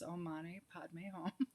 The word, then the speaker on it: Om Mani Padme Hum: And so this meditation, the traditional Tibetan mantra, Om Mani Padme Hum, pronounce Om Mani Padme Hum, literally means a jewel in the lotus.